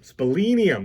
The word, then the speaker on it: splenium: callosum we will see the split splendin splenium spellinium that's how you say it which communicates with